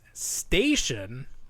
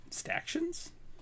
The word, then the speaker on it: Staction: the Four Horsemen, and I said that those toys were pronounced station, which of course makes no sense because it's a combination of statue and action figure. Yeah. So they are called Stactions?